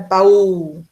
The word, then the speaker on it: baú: Ó, baú, não é baú, não é baú, É baú. As duas são pronunciadas.